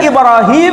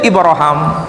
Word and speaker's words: Ibrahim: dilafalkan di dalam al-qur'an Boleh Ibrahim boleh ibraham karena ini untuk menyambungkan nama beliau yang diucapkan dalam bahasa selain Quran dalam bahasa selain bahasa Arab pada pewahyuan sebelumnya nama